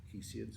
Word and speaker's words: Hesiod: Um, uh, Probably the second great poet of the ancient Greek era after Homer was his rough contemporary, perhaps Hesiod or Hesiod, some people prefer to pronounce him.